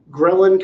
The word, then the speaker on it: ghrelin: tell you you're hungry ghrelin kinda rhymes with growling it and that's how